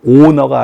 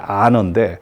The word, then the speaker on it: honor: 조금 헷갈릴 수가 있는데요 보통 아너하고 오너하고 이제 다르잖아요 다음에 이제 누가 칠순서가 됐다 그러면 아 당신이 안 오니까 쳐라 honor인데 그거를 이제 발음할 때는 아너라고 하지만은 보통 h5니까 우리는 오 발음을 무조건 5로 발음하잖아요 그래서 오너 자칫 잘못하면 owner 오우너 내가 이거 소유주다 내가 1번을 잡았다 소유했다 이렇게 좀 오해하시는 경우가 있는데요 정확한 표현은 오너가 아니고 사실 아너인데 사실 제가 막 누구 발음을